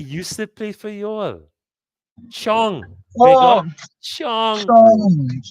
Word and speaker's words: Chong: Rhymes with wrong. It rhymes with long.